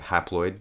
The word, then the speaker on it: haploid: considered the haid number think of haid rhyming with half 23 diploid sounds like